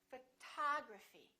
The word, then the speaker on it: photography: about this one we stress the second syllable we say photography this o also is reduced and also becomes this symbol uh photography photography repeat after